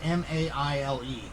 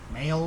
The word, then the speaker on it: Maile: It's M-A-I-L-E. So, Maile or Maile.